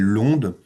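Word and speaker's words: ONDES: Donc un observatoire dédié au aux étudiants, aux personnels de l'enseignement supérieur et de la recherche donc qui s'appelle l'onde et on prononce pas le S.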